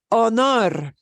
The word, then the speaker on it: honor: an H in them you will not hear the hombre hombre hombre okay honor honor honor okay uh here's a